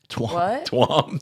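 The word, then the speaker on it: Tuam: She says, "This is giving this is giving Twam a bad name." Twam the county. It's T u M. Is it Twam? Twam. Yeah. Twam County.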